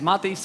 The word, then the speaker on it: Matiss: airman that's correct hi guys my name is Matias I'm the co-founder and CEO of cream finance